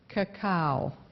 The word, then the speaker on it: cacao: of cocoa chocolate and cocoa butter and it's pronounced cacao cacao see a see a Oh kakaw that